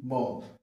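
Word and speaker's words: bomb: হ্যাঁ তাহলে কি হচ্ছে পি ও এম বি বম এখানে বি সাইলেন্ট ঠিক আছে অর্থাৎ এম এর পরে আফটার এম এম এর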